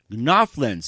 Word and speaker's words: GNOWFGLINS: She's a mom, cook, author of many books, and have a school for cooking called Gnoflins. It's spelled Gnofglins, and she can tell us all about her first.